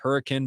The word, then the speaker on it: Hurricane: It's actually pronounced hurricane, but nonetheless, I get it.